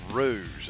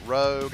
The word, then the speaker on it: Rouge: fans toys ft 24 Rouge it's not rogue I get how people mispronounce they have messed that up because Rouge and rogue do look a lot alike but at the same